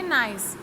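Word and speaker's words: gneiss: सो marble, slate, नाइस, इसे आप pronounce करेंगे नाइस।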